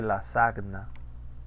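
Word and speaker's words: lasagna: Así se pronuncia la ñ del italiano. Por esa razón se escribe la sagna. La sagna. Y uno dice lasaña, ¿no? Porque en italiano es la misma regla.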